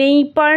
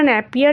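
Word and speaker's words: Napier: হচ্ছে ন্যাপিয়ার স্টেশনটার নাম নেইপার না ন্যাপিয়ার এরকম একটা প্রোনাউন্সিয়েশন হবে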